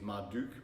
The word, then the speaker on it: Marduk: And there's some I know the correct pronunciation is Marduk, but I always feel that's like really awkward to say, so I just go with the Latin pronunciation of you, like Marduk.